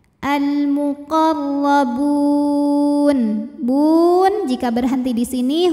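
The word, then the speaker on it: المقربون: Huruf ra dibunyikan secara tafkhim karena ra-nya ini berbaris di atas yaitu baris fathah. Cara membacanya ditebalkan, pangkal lidah dinaikkan. Al-muqarrabun.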